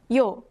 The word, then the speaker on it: 요: When you add another short stroke, a Y sound is added to the front of these sounds. Add another short stroke to O and it becomes 요.